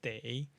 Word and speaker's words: 得: And then day here is what we learned in unit 15, the illness unit, and it's pronounced as day.